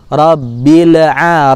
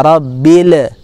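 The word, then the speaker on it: ربِّ الْ: Ain robila rob file hati-hati lam Sakinah disini seringkali sebagian dari kita juga membacanya dengan cara memantul nya Robby Lea rabbil ini tidak boleh dipantulkan karena huruf lam bukan huruf Qalqalah ya huruf Qalqalah adalah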